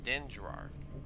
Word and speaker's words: Dendrar: Yeah, Dendrar, I believe is how you would pronounce that.